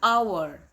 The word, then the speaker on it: hour: An hour. Huruf awal kata hour adalah H. Dia huruf konsonan, tetapi pengucapannya dia mengucapkannya dengan suara vokal, maka dia menggunakan an hour ago, an hour.